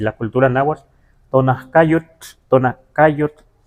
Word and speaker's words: Tonacayotl: de tonaca, solo que la TL se pierde.